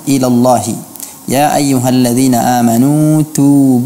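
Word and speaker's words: إلا الله: yang artinya mengumpulkan bibirnya tidak dibaca illallahu tapi illallah illallah alis catatan yang pertama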